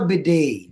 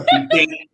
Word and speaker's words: bidet: no, wait, Filipino pronunciation, right? Nothing is silent.